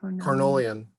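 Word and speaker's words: Carniolan: are the russian uh is it cannolian i don't know if i'm pronouncing that properly carnolian carnolian yeah but they seem to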